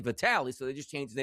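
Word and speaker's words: Vitali: Like sometimes, like, remember Vitaly Klitschko? It was like, all right, the first name is actually Vitaly Klitschko. But you want to be big in America, and we don't say Vitaly.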